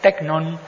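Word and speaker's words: τέκνον: suena simplemente así pero en griego que se pronuncia tecnon en griego tiene un Matiz de de cariño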